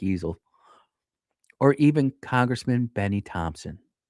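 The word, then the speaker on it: Ezell: I wanted to say Mike Ezekiel, but it's Mike Easel.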